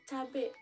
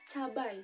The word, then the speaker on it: cabai: Hai style yang kedua itu ada cabe nah tapi itu merupakan pelafalan kata yang salah cabe dan yang bener itu adalah cabai hijau Hai selanjutnya itu ada